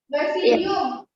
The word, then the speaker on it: basidium: Yang nomor 4, meiosis yang di tangkai itu apa bacanya? Yang merah? Basidium.